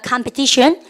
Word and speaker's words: competition: 영어는 TION으로 끝나면 발음은 션 이렇게 하시고요. 띠용이 아니라 내죠. competition 이러면 안 돼요. 아시죠? competition이에요.